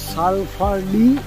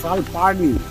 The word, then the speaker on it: Salparni: এই আমাদের সালফারনি ওয়াটারফল, সালফারনি না সালপারনি, সালপারনি ওয়াটারফল। বারবার ওই সালফা সালফা উচ্চারণ হয়ে যাচ্ছে, একটাই কারণে এখানে হট স্প্রিং